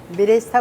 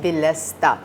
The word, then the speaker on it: बिलस्ता: बिरिस्ता वो गलत स्पेलिंग थी, बिरिस्ता पेस्ट एक्चुअली उसको कहते हैं बिलस्ता।